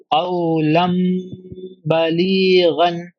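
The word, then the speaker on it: قَوْلًا بَلِيغًا: After tanween, there is a ba. So qawlan balighan. Qawlam Balighan.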